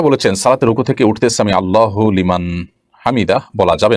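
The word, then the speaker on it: سمع الله لمن حمده: অগত প্রশ্নটি আপনি করে ফেলেছেন দেখুন সামি আল্লাহু সামি আল্লাহু লিমান হামিদা এটি হলো শব্দের সঠিক উচ্চারণ সামিউল্লাহু লিমান হামিদা সামিল্লাহু লিমান হামিদা এটা সঠিক উচ্চারণ নয় থামতে হবে সেখানেই যেখানে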